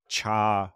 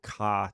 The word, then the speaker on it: char: character so this is the Char or car type depending on how you pronounce it but the square